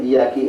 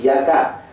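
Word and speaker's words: إيّاكَ: Nah, Allah iyaki na'budu, bukan iyaka. Iyaki na'budu itu tidak boleh.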